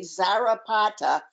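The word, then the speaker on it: Czarapata: mentioned zara potter c-z-a-r-a-p-a-t-a zarapata but this the initial c is silent so it's all a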